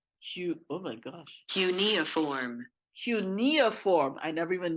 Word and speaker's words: cuneiform: able to find out tell you how it's pronounced cuneiform cute oh my gosh cunia form eunia form I never even knew how that